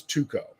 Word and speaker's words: Tycho: International folks I've been told that the proper pronunciation is tuko but I just for some reason I want to default back to Taiko anyway I'm gonna call him Tycho until I